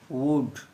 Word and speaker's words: would: लेकिन दोनों का प्रोनाउंसिएशन, दोनों का उच्चारण सेम है, क्योंकि WOULD, वो भी W से स्टार्ट हो रहा है, वुड।